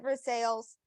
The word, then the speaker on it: Versailles: spelled like Versailles but um you know they pronounce it for sales um and so um this was one I